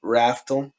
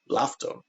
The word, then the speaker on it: Laftel: just the thing is in Japanese they don't have an R, and so we pronounce it raftel, but they pronounce it daftel, daftel, laftel, almost with an L.